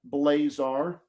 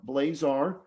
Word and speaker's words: Blazar: so my website is just www dot blazar dot com my last name is spelled b l a z like zebra a r blazar and you'll see a little link there up